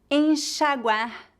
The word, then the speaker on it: enxaguar: Por exemplo, xícara, shampoo, caixa, peixe, enxaguar, enxugar. Normalmente, o X é pronunciado como Z quando colocado entre a vogal e outra vogal em início de palavras.